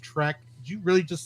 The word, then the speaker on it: Trek: i beat it into your skull that it's pronounced trek do you really just say it with star track i didn't possibly on that maybe let's stay